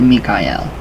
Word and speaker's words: Michael: Using a flat red paint, write in the archangelic name Michael, pronounced Mikael, to seal and protect this work.